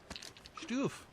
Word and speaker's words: Stoof: Stoof. I found Stoof. Everybody likes Stoof, right? And that's pronounced S-T-O-O-F. Stoof.